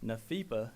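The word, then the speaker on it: NAFEPA: NAFIPA is the uh is how they pronounce that or the the acronym for it.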